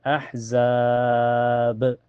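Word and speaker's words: أحزاب: Cara bacanya pantulannya lebih besar ya. Ahzab. Jadi dipanjangkan dulu mad ar di sukunnya bisa 2 4 sampai en harakat. Lalu pantulkan ya banyaknya. Ahzab.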